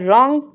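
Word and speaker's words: wrong: इसको पढ़ते हैं रॉन्ग क्योंकि इसका डब्ल्यू साइलेंट है।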